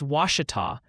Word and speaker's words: Ouachita: Also, the Pronunciation Parliament is back with a vengeance. They're passionately confirming Ouachita is Ouachita after you bravely waded into that hornet's nest of vowels, and that Chickett County is Chico.